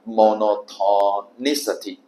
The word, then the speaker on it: monotonicity: monotonicity 这是单调性或者是一致性啊。